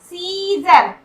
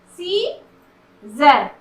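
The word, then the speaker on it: scissors: सीजर, यहाँ पर देखिए सीजर, यहाँ पर सी का साउंड नहीं आ रहा है, एस सी है, लेकिन यहाँ पर सी का साउंड नहीं हो रहा।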